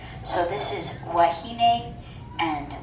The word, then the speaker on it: wahine: If the W's at the beginning of the word, it will be a W sound. So this is wahine and waikiki.